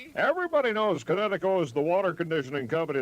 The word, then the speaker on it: Kinetico: Son, you should have remembered kinetic as in kinetic energy with an O on the end. Kinetico.